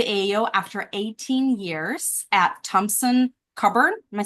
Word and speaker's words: Thompson Coburn: Trey comes to the AAO after 18 years at Thompson Coburn.